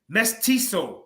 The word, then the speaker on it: mestizo: both in uh Nick's ethics Heritage called mezzo pronounced meets meat mestizo matisso in the same way Mexican religious myths